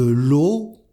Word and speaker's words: l'eau: Une baguette, du beurre, une bière, du chocolat, des crevettes, de l'eau, donc on prononce E-A-U comme un O, de l'eau, de la farine, une fraise, des frites, du fromage, un gâteau, de la glace.